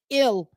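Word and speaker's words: Gil: probably gonna have to go after Bullpen de and Bullpen help right now starting pitching Chris surprisingly this kid Lewis ill I believe his name is G but they they pronounce it ill he's the Ace of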